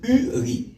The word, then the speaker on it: Uri: C'est Uri. U-R-I. C'est très important ça. Ouais, la prononciation est très bonne.